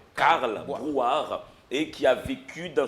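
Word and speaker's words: Carl Brouard: Tu sais, les gens des fois prononcent mal, les gens disent Calboire, place Calboire. Mais ils oublient que c'est le poète, illustre poète qui s'appelait Karl Boire et qui a vécu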